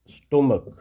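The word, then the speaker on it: stomach: स्टोमक, देखिए यहाँ इस सी एस का जो प्रोनाउंसिएशन उच्चारण है वो चा नहीं है, का है।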